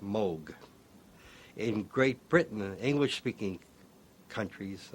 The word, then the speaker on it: Moog: and there it's pronounced Moog in Great Britain English-speaking countries uh people see the double O and they say moo I just happen to